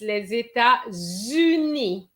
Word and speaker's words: États-Unis: You both pronounce well because sometimes students say les États-Unis. And that's the kind of pronunciation I've heard in the past. So you pronounce it well. So les États, okay. So the S and the T are silent for the word state, and uni.